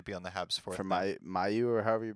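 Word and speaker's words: Mailloux: He's projected to be on the Habs for Mayu or however you pronounce his name. Malu. Yeah. Malu.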